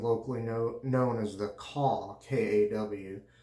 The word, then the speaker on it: Kaw: known as the Kaw, K-A-W, spelled the same as the K-A-W in Holy Cow soaps, I guess it is, but it's pronounced Kaw.